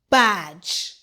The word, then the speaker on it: badge: D G E says J. The E is silent. B A J badge.